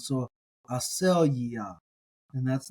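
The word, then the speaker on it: ἀσέλγεια: You put the stress on that next to last syllable.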